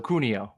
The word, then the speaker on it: Cuneo: joined with Brian Sunil is that how you pronounce your last name uh hard C so cunio yeah I